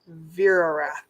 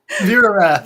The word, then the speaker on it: Verath: Verath. Verrath. Vera Wrath. So, Ver like W R A T H at the end. Like Vera Wrath.